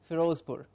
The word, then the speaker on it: Firozpur: In English we'll pronounce it as Firozpur.